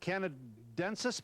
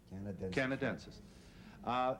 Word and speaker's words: Canadensis: It is, how do you pronounce that? Canadensis, Pennsylvania, at 18325. Canadensis.